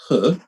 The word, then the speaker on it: He: by dr jan quinn her it's spelt h e but pronounced her in mandarin and so um a